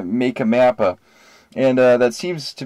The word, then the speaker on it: MakkaMappa: something else app uh I've been pulling around to see how people would pronounce it in my opinion you know my humble opinion this is apparently not the majority I'd say uh make a mappa and uh that seems